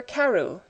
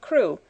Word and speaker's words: Crewe: Madame Pascal pronounced it as if it were Ku instead of crew, but that might be merely a matter of pronunciation.